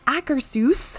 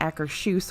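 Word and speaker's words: Akershus: has finally reopened over in epcot's Norway Pavilion acresus which is what I've been told is how you pronounce it not Acker shoes which I did for a long time not Acker Seuss or like Ackers hoose like house that's anyway that's open again there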